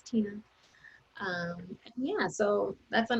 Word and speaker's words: Tenna: just my name it's tina my name is spelled a little strange it's uh t-e-n-n-a and my last name is so it's like tenna it's tina um yeah so that's